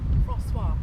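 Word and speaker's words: François: Francois.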